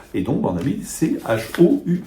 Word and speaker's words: choux: Et donc on a mis c h o u x, hein. Voilà l'évolution des choux avec un X, des chox mais qu'il fallait prononcer chou puis quelqu'un oublie puis